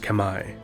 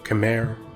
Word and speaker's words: Khmer: day cambodia the camera correctly pronounced kamai or khmer or cameron english are